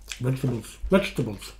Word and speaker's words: vegetables: Vegetables. I will say it in three syllables, okay?